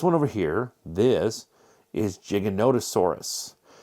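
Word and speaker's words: Giganotosaurus: Now, this one over here, this is Jiggonotaurus. People always wrongly pronounce this Gigantosaurus. Gigantosaurus. Nope. Jiggonottosaurus.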